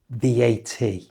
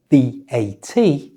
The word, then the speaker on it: VAT: but also something called VAT. This stands for value added tax. And this can be pronounced as either simply the letters VAT, or the word vat.